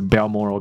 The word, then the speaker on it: Balmoral: Moral 我念得出来， BAL 不太确定它是念成 Bal 还是 Ball，所以总之我刚才确认了一下下，CNN 的主播报道是 Balmoral Castle， fine， her estate in